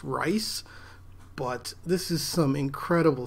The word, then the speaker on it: Reis: is some good stuff his name is rod Reese I think or might be pronounced rice but this is some